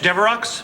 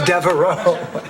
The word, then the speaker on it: Devereaux: Flowers for Blanche Deveroux? Oh, no, that's Devereaux. It's only pronounced Deveroux in limericks.